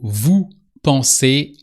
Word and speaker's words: vous pensez: I said it sounds like the infinitive form. I didn't say you should write it the same way. So vu pon ends with a zed